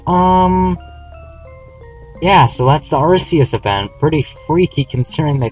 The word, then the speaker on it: Arceus: about it I don't care if the official pronunciation of its name is arus Aria sounds cooler and that's what's original pronunciation